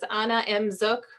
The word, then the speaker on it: Anna Zook: Has my contact information so contact me and it says Anna Zook rhymes with wanna book again.